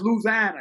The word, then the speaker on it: Louisiana: down in Louisiana I love L actually it's pronounced Louisana it's not pronounced louisi it's Louis yeah you know yeah exactly how